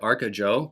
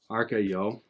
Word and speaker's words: Arcayo: I almost pronounced it Arcajo, but then I would have just sounded like a belligerent American. So I looked it up. How do I pronounce the electronic producer's name? Arcayo, and it's a Swedish name.